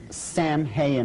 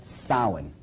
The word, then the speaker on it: Samhain: Now, when you look at the name, it looks as if it's saying Samhain or something like that. No, no, no, no. This is properly pronounced in the ancient Gaelic as Samhain.